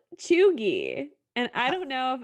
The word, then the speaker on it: cheugy: It is called cheugy.